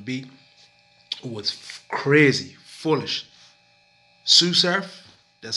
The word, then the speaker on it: SuSurf: SuSurf, that's how you pronounce his name, SuSurf, he done a freestyle, I think, on I-95, set the bar up so high.